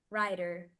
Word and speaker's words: writer: is mute here wrer writer writer writer the W is silent too ra riter wrer or